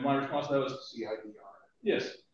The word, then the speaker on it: CIDR: And my response to that was CIDR. Yes. So you mean cider notation. Yeah, or cider. But I pronounce it the Matt Payne way, which is cider.